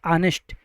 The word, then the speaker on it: honest: यह जो वर्ड लिखा है ऑनेस्ट यहां पर जो एच लेटर है यह साइलेंट है।